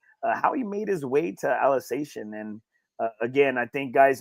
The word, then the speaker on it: Alsatian: It's Alsatian.